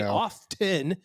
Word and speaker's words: often: to sound proper that they overcorrect and say often thinking it sounds more formal or educated. Ironically, it's the opposite. The T was dropped centuries ago in educated British English.